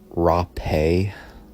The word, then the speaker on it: Hapé: So this is pronounced Hapé.